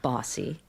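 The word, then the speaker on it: BAWSI: It's called Bossy. It's pronounced Bossi.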